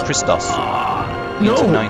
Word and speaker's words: Christos: followers of Christ although in Greek Christ would actually be pronounced Christos don't hand over the